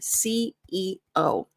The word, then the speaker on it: CEO: take your time because when I coach non-native speakers and they say CEO, it usually sounds like CO. And the CO is a different position. Make sure, don't say these faster. When you have things that are letters, specifically positions, take your time.